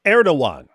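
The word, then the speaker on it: Erdoğan: Ridvan, why don't you correct David that G in Turkish is silent?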